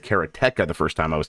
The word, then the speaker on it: Karateka: I'm playing the hell out of the making of Karateka. Karateka, yeah. Yes, although apparently Jordan Mechner says Karateka. I said Karateka the first time I was talking about this.